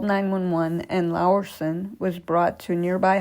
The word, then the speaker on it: Laursen: Laursen, his name is spelled Laursen, that's why I'm not saying Larson, recovered from his injuries but has never spoken publicly about what occurred that day.